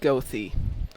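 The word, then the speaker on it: Goethe: Then again, I come from Chicago where the street that's spelled G O E T H E is pronounced Gothy.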